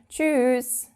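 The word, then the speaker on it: Tschüss: Now to say goodbye you would amongst friends you would say choose but we actually pronounce it a bit longer. We tend to say choose. I don't know why that is. It might sound a bit weird but yeah that's just what we do.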